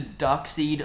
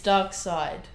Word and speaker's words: Darkseid: then building up to dark seed like dark seed duck side Sai Sai ducks like an eel are you pronounced seitan is seceded but then you pronounce doc Sita's dockside its dark side I don't know I